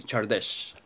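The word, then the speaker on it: Csárdás: اسم المقطوعة تشاردش أو كسارداس، ولكن هي بالهنغاري تشاردش تلفظ.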